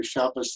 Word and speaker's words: Shabbat: to use hebrew you you don't use shabbat as shabbas in the same way shabbos the yiddish form and conservative literature with modern hebrew shabbat so you're using any